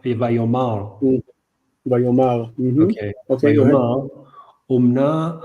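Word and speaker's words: ויאמר: Look at the pronunciation of that word, not vayomer. Oh yeah, because it's in the Adnach vayomar.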